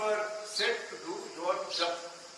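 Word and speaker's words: जप: So now you are set to do your jap. People call it japa, but I call it jap. The correct Sanskrit pronunciation is jap.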